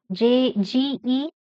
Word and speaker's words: geology: Fourth one. Geology. Stress on OL. This one. Geology.